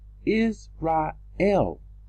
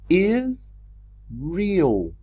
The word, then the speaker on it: Israel: Is real. And this is not the correct pronunciation. The E and the A has been changed.